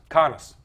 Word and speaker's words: Connis: Connis. I think that's how you pronounce it. That's who people who have talked to him on the phone have told me that's how you say his name.